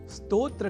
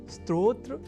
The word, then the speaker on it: स्तोत्र: यदि हम यह ध्यान में रख लें तो कभी भी स्तोत्र के स्थान पर स्त्रोत्र या स्त्रोत जैसे उच्चारण या लेखन हमारे प्रयोग में ही नहीं रह सकेंगे।